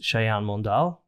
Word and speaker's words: Sayan Mondal: have a special guest and his name is shayan mondal did i pronounce it well yeah that's perfect hello guys